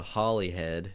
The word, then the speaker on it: Holyhead: I'm going to float my ass across the channel over here to England, to a place called Holyhead, which is spelled with 1 L.